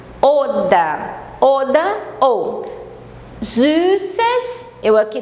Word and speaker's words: oder: Esse final é R, sempre abrindo, como se fosse um A. Oda.